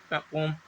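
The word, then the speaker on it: poem: Yeats इस पोम, पोएम नहीं पोम पढ़ते हैं इसकी, पोम, ठीक है, बहुत से टीचर भी पोएम पढ़ते हैं, गलत होता है प्रोनाउंसिएशन इसका, ठीक है, पोम होता है प्रोनाउंसिएशन, इट्स इज पोम, ठीक है।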